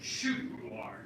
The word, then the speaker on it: köttbullar: Meatballs in Swedish is pronounced köttbullar.